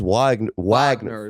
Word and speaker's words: Wagner: Franz Wagner is how you pronounce it. Wagner with a V, yes, to win the most improved player.